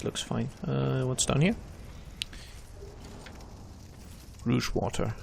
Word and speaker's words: Rouge Water: Rouge water, that's nice. Which for some reason, for a long time, I mispronounced as rogue water.